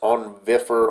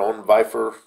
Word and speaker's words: Onvifer: how nice it is I'm not sure how it's pronounced on differ on bifur its onv i fer you see it right here so when you